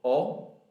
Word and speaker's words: ho: Io ho, tu hai, lui, lei ha, noi abbiamo, voi avete, loro hanno. The H is silent in Italian when it's at the beginning of a word.